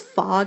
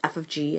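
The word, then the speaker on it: f∘g: Remember, this notation looks like it says fog and goff, but it doesn't. It's pronounced f of g and g of f.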